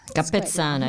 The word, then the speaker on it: Capezzana: Capezzana. Your Italian pronunciation is excellent.